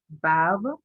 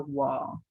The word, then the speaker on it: Vav: You're seeing the next consonant in the alphabet, and that's Vav. That's the modern pronunciation, or wall. They can be pronounced Vav or wall. Either pronunciation is fine.